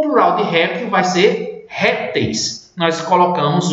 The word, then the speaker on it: réptil: Olha a palavra réptil, ela é paroxítona. A sílaba mais forte é essa primeira aqui, certo? E não a que está com L. O plural de réptil vai ser répteis.